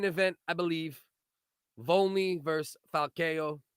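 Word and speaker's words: Falcão: So co-main event, I believe, Volney versus Falcao or Falcio, whichever way you say it properly.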